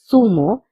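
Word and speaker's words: zumo: Notice that I'm saying fumo all the time. But you can also say sumo because zed has the pronunciation of s. Also please remember zed has the pronunciation of the and s both. In Spain we pronounce zed as the and in Latin America we pronounce the zed as s.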